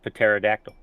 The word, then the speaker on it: pterodactyl: p in the name the p is silent because it's pterodactyl yeah wol just immediately